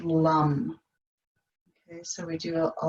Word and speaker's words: lam: So it's spelled L-A-M, but it's pronounced lum.